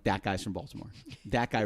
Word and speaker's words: Baltimore: Now we pronounce it Baltimore, but up there it's Balmer. Balmer. Balmer.